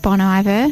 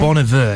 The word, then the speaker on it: Bon Iver: I even heard on Triple J, they were pronouncing it Bon Iver. Oh, on Triple J. Bon Iver, yeah. I've forgotten how. Meaning good winter in French. Yeah. Bon Iver, yeah.